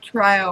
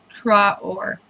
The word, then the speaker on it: Traore: i pronounced this correctly bob trior r t-r-a-o-r-e try or she's from crowley texas